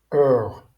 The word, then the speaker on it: hour: Hur remarquez que dans hour, on ne prononce pas le h.